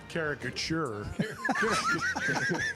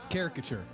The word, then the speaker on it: caricature: Caricaturure. Well, as you know, I leave I leave syllables out. Say it. Say it again. Caricature.